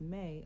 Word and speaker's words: me: The mi pronounced may are not just objects.